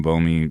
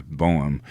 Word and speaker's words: Boehm: the name of Ethan Bomey edited the film. And Ethan, and I always say his name wrong, is Boehm, but Ethan Boehm, who works for Jeff